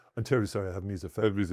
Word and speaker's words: misophonia: Misoponia. Is that pronounced correct? That is. That is misophonia.